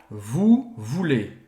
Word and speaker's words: voulez: querer em francês tá presta atenção aqui na pronúncia vo é com as posição moveu vulli vuler então ou vai ter som de u em francês e ese vai ter som de e voulez vous voulez aqui